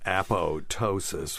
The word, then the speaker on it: apoptosis: for people out there it's spelled a-p-o-p-t-o-s-i-s but it's apotosis from the science silence all right it's